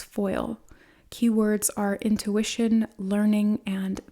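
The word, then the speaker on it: faol: the uh the guidebook wolf pronounced in Celtic as foil keywords are intuition learning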